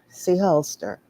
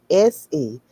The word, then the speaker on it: Sehulster: This is Seholster. I'm going to say it like that. It's Sehulster. Okay?